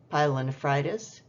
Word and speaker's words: pyelonephritis: I'm just going to pronounce these for you. Polyuria, pyelonephritis, ureterorrhagia, extracorporeal shockwave lithotripsy.